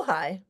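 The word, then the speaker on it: Ojai: Oh, ohigh. Oh, okay. She said she I can see the valley in your artwork. Oh, well, you know, Ohigh is just our neighbor down the road.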